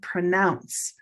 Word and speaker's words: pronounce: Brown cow pronounce I can't pronounce it pronounce but the pronunciation the noun is gray day pronunciation. Can you see how these are different? pronounce pronunciation. They sound very different.